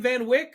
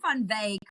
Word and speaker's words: Van Wyk: to say your name Van Wick or it's actually fun vag but it's off concer